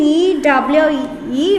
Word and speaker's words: ewe: What is the spelling? E-W-E. Have to pronounce this word as ewe.